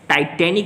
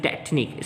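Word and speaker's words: tetanic: This is टाइटेनिक नहीं है, this is टेटनिक, spelling का मसला है।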